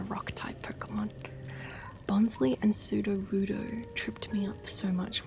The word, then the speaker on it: Sudowoodo: Because I know Sudowoodo as in pseudoscience, right?